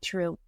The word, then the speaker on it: Trieu: my signature program which my last name for those of you who don't know it's true. T R I E U just phonetically sounding like true.